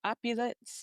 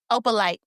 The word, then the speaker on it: opalite: I'm pulling it up, but did you see what they were what they were talking about with that opulence? No, I'm saying it wrong. Opalite, which is a crystal.